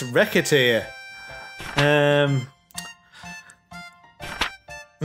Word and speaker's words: Recette: it's that well no it's not recite it's wreck it here um i mispronounce